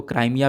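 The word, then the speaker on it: Crimea: Reason है, ठीक है, इसको आप हिंदी में क्रीमिया बोलो, क्रीमिया भी बोला जाता है, प्लस इंग्लिश में आप लोग यहाँ पर इसको प्रोनाउंस करोगे तो क्राइमिया भी यहाँ पर इसको बोला जाता है।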